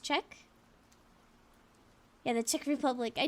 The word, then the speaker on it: Czech: So it's it's pronounced Czech.